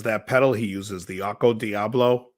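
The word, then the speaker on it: Okko Diablo: My buddy has that pedal he uses, the Occo Diablo. It took me about 10 times to realize how to say it. I kept saying the Occo Gobo.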